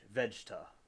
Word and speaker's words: Vegeta: I'm still getting the hang of it with the pronunciations, but I will. I'll get the hang of it. Okay, Vegeta.